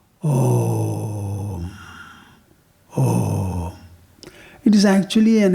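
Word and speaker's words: ॐ: A plus U will combine as O. Then you close your mouth. Om.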